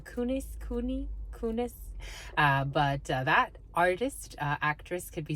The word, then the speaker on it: Kunis: How do you pronounce her last name? Kunis.